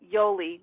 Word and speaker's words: Yoli: Yeah, it's actually Yoli. Yoli. Yolie. Oh, okay. Short, yeah, it's short for Yolanda.